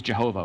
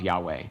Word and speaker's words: Yahweh: And for some reason, a lot of them use Jehovah, which is a bad mispronunciation of Yahweh.